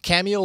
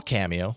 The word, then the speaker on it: Camio: on my Nexus 5 cameo will analyze the video to determine if the